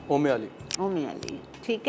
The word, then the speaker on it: Umali: अच्छा, गलती से हमारा जो प्रोनाउंसिएशन हो रहा है हमारी रेसिपी में वो गलत है। ओम में क्या हो रहा है पता नहीं, वो नहीं है। इसको क्या कहा जाता है? ओमे अली।